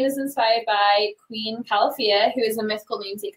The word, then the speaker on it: Califia: So it's actually pronounced Califia, like California.